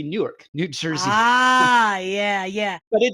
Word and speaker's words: Newark: And actually, depending on how you pronounce it, like if you're one of the locals, the biggest city with one syllable is actually Newark, New Jersey.